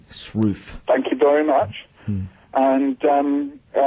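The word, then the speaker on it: Sroufe: I'll just so if you want to look that up, it's spelled S-R-O-U-F-E, Shrew.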